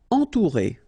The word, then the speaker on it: entourer: Entourer. Okay, nasal, en, then O and U together, ou, entourer, entourer.